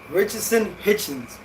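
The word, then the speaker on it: Richardson Hitchins: Richardson Hitchens, that's how you say his name.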